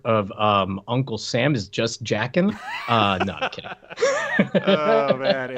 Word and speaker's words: Jaeckin: first name is Just, last name is spelled Jaeckin, just Jackin.